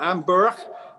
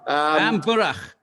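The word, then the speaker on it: An Bùrach: Is it, because it's Gaelic, Burak? Yeah, Amburach. Amburach, Gaelic for the mess.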